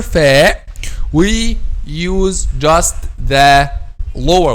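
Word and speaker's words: فاء: We pronounce letter fa by making the inner the edge of the upper 2 front incisors, this part. So the edge of upper 2 front incisors touches the inner bottom lip.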